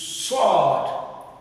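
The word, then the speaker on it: ص: Then the last but not the least for today's lesson is sword, sword, sword, sword, sword.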